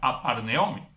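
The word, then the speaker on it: ἀπαρνέομαι: La palabra griega para negación se pronuncia aparneome.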